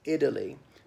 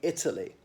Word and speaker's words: Italy: in the equivalent situation pronunciation of words like Italy now Bill Maher a man whom I hold in the highest possible regard pronouncing it Italy but for us it definitely is a T Italy but I pronounce t's properly I know some Americans say the term there's some upper class British T is like a hammer on the anvil Italy you really hit the T and then it's a